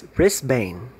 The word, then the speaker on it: Brisbane: of the locations all right brisbane no it's brisbane all right so you have to learn how